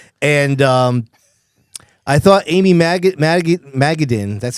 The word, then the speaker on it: Madigan: And um I thought Amy Maggaden, that's how you say her name. Madigan Madigan.